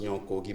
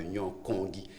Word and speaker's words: Nyon Kongi: Souvent, on prononce Nyon Kogi, mais en fait, c'est mal prononcé. On parle de Nyon Kongi.